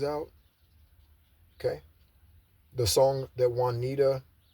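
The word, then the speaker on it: Juanita: okay the song that Wanita her name is spelled j u a n i t a Wanita um also shaita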